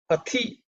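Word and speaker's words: पथि: Pati, again, this is the second letter in the Thavarga. Okay. It's as you should, when you pronounce it, you should do it with aspiration.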